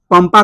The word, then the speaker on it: पंपा: ठीक है, पंपा कहेंगे तो यहाँ पे इस अनुस्वार का उच्चारण क्या हो गया? अनुस्वार का उच्चारण क्या होगा? अनुस्वार, अनुस्वार का उच्चारण, अनुस्वार का उच्चारण जो हुआ मेरे लाल यहाँ पे हुआ म। ठीक है कि नहीं है? पढ़ेंगे इसको पंपा, यानी कि इसको हम क्या पढ़े? म पढ़े।